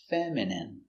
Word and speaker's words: feminine: feminine like a girl pronunciation feminine f e mem i f fem femin femin feminine feminine feminine stress on the first syllable feminine feminine your dog will